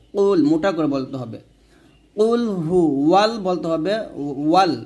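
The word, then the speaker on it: قل هو: কুলহু ওয়াল বলতে হবে এখানে আমরা কুলফু বলি মানে হা পেশ হু না বলে ফা পেশ ফু উচ্চারণ করি এই যে ভুলগুলা এই ভুলগুলো কিন্তু করা যাবে না কুলফু বলি আমরা অনেকেই ফু না এটা হা পেশ হু এটা কুলহু আল্লাহ হবে লাম খারা জবর ল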